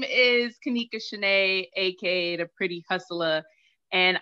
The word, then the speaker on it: Kanika: the spill it hi i'm gonna say your name wrong i'ma say kanika yes thank you i got it right i